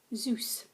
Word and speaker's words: Zeus: the Greek god Zeus you say it like Zeus and this is the